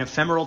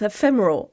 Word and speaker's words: ephemeral: art is goals right there i got an ephemeral tattoo oh that's how you say it